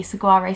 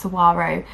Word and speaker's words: Saguaro: just love them in the summer is the cigari set by Friday pattern company and I realize I pronounce it wrong it's pronounced Saguaro but Saguaro is just ingrained in my brain